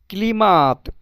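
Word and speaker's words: климат: তো ক্লাইমেটটাই এখানে উচ্চারণ ক্লিমাত।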